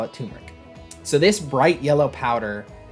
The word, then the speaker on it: turmeric: All right, Spice number three is turmeric or turmeric. There is an R in there. My wife calls me crazy when I try to pronounce the R, but let's just call it turmeric.